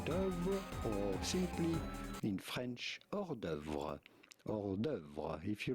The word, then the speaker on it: hors d'œuvre: The H and the S to hors are silent, so do not pronounce them.